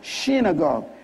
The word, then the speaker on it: synagogue: The word synagogue is actually pronounced shinagogue. Shinagogue, shina means place, agog means meeting.